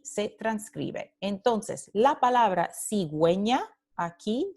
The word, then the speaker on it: cigüeña: Entonces, la palabra cigüeña, aquí, cigüeña, tiene la diéresis encima de la U. Esta diéresis está diciendo a los hablantes, hey, this has to be pronounced. Entonces, esta palabra se pronuncia cigüeña, cigüeña, y tenemos aquí la transcripción de la U.